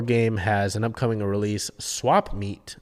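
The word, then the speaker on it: Swap Meat: One More Game has an upcoming release, Swap Meet, that is spelled SWAPMEAT, not like swap meet, like a meeting, but meat like the food.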